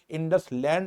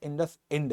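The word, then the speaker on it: IndusInd: नहीं पता था कि उनका बैंक का नाम इंडसलैंड अकाउंट नहीं है, इंडस इंड है।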